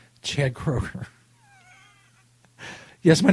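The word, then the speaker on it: Kroeger: I'm g go Kroger I think the middle e is silent Chad Kroger yes my name is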